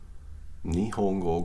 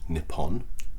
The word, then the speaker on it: Nihon: So watashi wa nihongo ga. Nihon is how you say Japan in Japanese. It's written as Nippon in English, but it's pronounced Nihon.